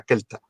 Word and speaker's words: celta: mismo Keltoi, o Kelti, que es como se pronuncia, no se pronuncia celta, se pronuncia kelta, ¿vale? Y sobre todo en latín. Las C sabemos que en latín son sonido K, ¿vale?